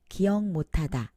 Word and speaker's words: 기억 못 하다: 국물(soup) 육만(60,000) 기억 못 하다(to not remember) In case of 기억 못 하다, When you pronounce 기억 and 못 quickly together, it becomes nasalized.